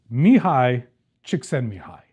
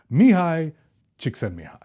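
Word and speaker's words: Csikszentmihalyi: for you because it's wild so this is mihi chicken mihi that's how it's pronounced I have practiced this many times Mihi chick mihi he's a he's a scientist he's a philosopher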